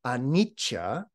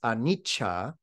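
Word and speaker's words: anicca: all impermanent they are anicha in the in the poly language the word is anicha in Sanskrit it's Ana same word just a slight different pronunciation but this idea of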